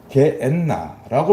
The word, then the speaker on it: 게엔나: 할 때 이 지옥이 게엔나라고 말씀하신 거예요. 이거는 헬라어예요. 히브리어를 헬라어로 이렇게 발음을 하는 것입니다. 게흰놈이라고 말씀하신 거나 마찬가지예요. 게흰놈이 게엔나로 헬라어. 예수님 당시에는 헬라 말을 쓰니까 이렇게 바뀐 것입니다.